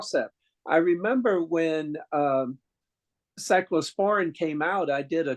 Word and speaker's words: cyclosporin: Dr clav calendar and I remember mispronouncing that word so badly that everybody turned and looked at me because I called it cyclosarin or something and I've never been